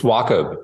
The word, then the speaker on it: Wachob: It's my South African background, I think, but the CH, I always want to do that sound, So anyway, Jason and